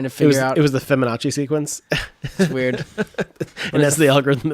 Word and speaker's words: Fibonacci: that up real quick how do you even spell that I'm probably saying it wrong to feminazi it's feminine no it's a but the the feminazi sequence sequence Feb anoche yeah Fibonacci Bonacci yeah the Fibonacci series of numbers in